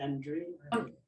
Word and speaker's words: Andre: you welcome thank you Andre how how do you say your name is it Andre yeah it's Andre Andre thank you thank youa